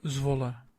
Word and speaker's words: Zwolle: I presume I'm pronouncing Zvola right. PEC Zwolle.